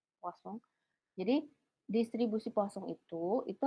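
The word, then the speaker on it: Poisson: ini bacanya bukan poison ini e posong.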